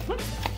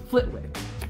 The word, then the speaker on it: Flitwick: Is it Flitz? I always have that name wrong. Flitwick. Flitwick. Wick. Flitwick.